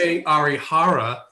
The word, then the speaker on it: Kohei Arihara: and by the way, this is the way you pronounce it, right? Because I have friends that are from Japan. Jones? Kohei Arihara, but he's got a 91% contact rate and a 5% strikeout rate.